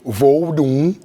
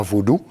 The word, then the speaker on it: Vaudou: racontent et tout et Vaudou comme ça se prononce vraiment et pas voudodou.